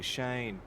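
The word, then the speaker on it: Seaghn: It's Shane, alright. It's Shane. Just call me Shane. It's fine. Oh yeah, Sean. That's what he said. It's S-E-A-G-H-N. That's Sean, right? No, that's Shane.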